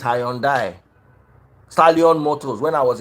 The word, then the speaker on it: Hyundai: innocent is not high you pronounce Hyundai thank you very much I've had a meeting with them before the people that brought it they said it's high and die stallion Motors when I